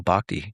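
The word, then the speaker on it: bhakti: So that's why I love this bakti yoga.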